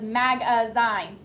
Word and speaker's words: magazine: Michaela, what word that you know does magazine sound like?